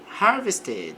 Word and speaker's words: harvested: The farmer, que é o fazendeiro, harvested, aqui pronuncia o e normalmente, colheu a large crop of corn, então uma grande safra of corn de milho.